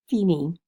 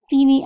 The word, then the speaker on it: Fine: a kid from Tonga named fine pronounced Feeny Feeny Unga at first I was